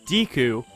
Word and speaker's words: Deku: You know, the most important detail I garnered from that is that the canon pronunciation of Deku is indeed Deku, or Deku, as he said.